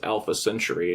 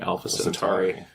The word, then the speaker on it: Alpha Centauri: Well, we also have the Kirk misspelling in, or mispronunciation in Tomorrow is Yesterday, where he says Alpha Century, and he's supposed to be saying Alpha Centauri.